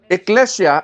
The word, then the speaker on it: ecclesia: Para mas maintindihan natin, ang church, the word church came from two Greek words, ecclesia at saka kyriakon, doma. Okay? Ang ecclesia, ang pronunciation talaga niyan, ecclesia.